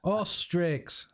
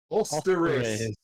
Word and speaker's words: Osteris: Ostrix. Osteris. Osteris. Ostris. Ostris. Oh, we're here to see the big O. Osteris. The big fan. There's no X.